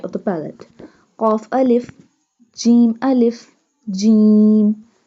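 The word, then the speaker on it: جيم: Qaf alif, jim alif, jim. Jim pronounced from the middle part of the tongue touching the middle part of the palate.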